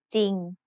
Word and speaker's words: จริง: It has an initial consonant cluster of จอจาน and รอเรือ but the รอเรือ is silent. So we pronounce this word as จริง Another important irregular spelling